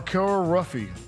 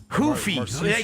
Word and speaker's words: Ruffy: I mean, he was Mar Ruffy. I mean, you don't say it like that. Is it Luffy? Hoofy. They pronounce it Hoofy.